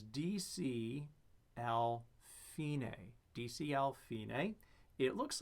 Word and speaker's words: fine: Spelled F-I-N-E, looks a whole lot like another word that we might know, but it's pronounced fine, Italian, fine, right?